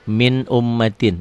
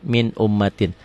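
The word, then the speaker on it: مِنْ أُمَّةٍ: Dibacanya min ummatin, dibaca min ummatin. Katakan ya, boleh ditulis di bukunya. Hukum idhar itu tulisan latennya kayak gini. Dibacanya sama. Tulisan dan bacaan sama persis.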